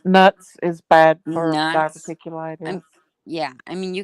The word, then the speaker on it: diverticulitis: Diverticulitis.